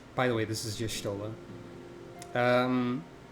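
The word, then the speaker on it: Y'shtola: the way this is justola um technically this is supposed to be pronounced yashtola but nobody ever does that at least past Realm Reborn everyone just says yishtola so uh vote now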